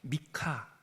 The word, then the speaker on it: 미가: 우리나라 말로는 미가. 이렇게 번역돼 있는데 어이 이름 자체가 어 고유 명사이고 히브리어거든요. 다 호쉐아도 그렇고 미가도 그렇고 그래서 미가는 이렇게 읽으시면 오히려 더 원래 발음에 가까워요. 미카 이렇게 하는 거죠.